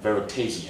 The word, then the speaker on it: Veritaseum: did I say right veritasium veritasium veritasium verium the American way of saying it it's uh veritasium yeah it's a derivative